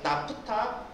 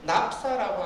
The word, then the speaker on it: 나프타: 때 휘발유가 나오는이 구간에서 나프타 혹은 납사라고 하는 물질이 나왔습니다 영어로 읽으면 낙사고요 독일어 발음으로는 나프타라고 이야기를 하는데요 뭐 취향에 따라서 읽으시면 되겠습니다 처음에 정류공장에서 공정에서 라퓨타가